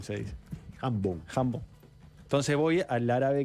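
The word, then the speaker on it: jambon: Se dice jambón. Se dice jambón.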